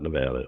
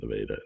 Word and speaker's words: Nevada: It's not Nevada, it's Nevada.